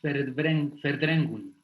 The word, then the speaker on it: Verdrängung: Siempre que vean en alemán una diéresis encima de una vocal, siempre va a tener un sonido alargado, distinto a cuando no tiene diéresis. Cuando no tiene diéresis en alemán, se pronuncia como se lee. Y la V se pronuncia como F.